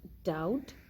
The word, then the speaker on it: doubt: b is not pronounced b is usually not pronounced before the letter t when we have b before the letter t in any word we do not pronounce the letter b like doubt subtle death in all these